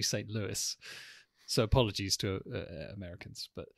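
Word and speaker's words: St. Louis: funny enough St Louie which I'm calling St Louie because that's the French pronunciation but it's actually St Louis so apologies to Americans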